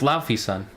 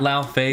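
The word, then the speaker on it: Laufeyson: and now we know his name is lauffy's son not lao face well we already knew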